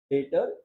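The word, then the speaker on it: debtor: एक डेटर, ये नया एक वर्ड था जिसने 20 साइलेंट है बेटा, मत पढ़ना।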